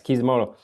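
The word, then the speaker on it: Kishimoto: Kizumoto. Yes, Kizimoto.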